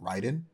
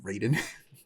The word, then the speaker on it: Raiden: happy that they made Ryden Japanese and they actually called him Ryden which is the like correct Japanese pronunciation of that name versus the very like